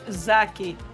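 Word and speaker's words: زاكي: And in my way, I say it's zaki. Zaki is how you say it in Arabic. Zaki indeed.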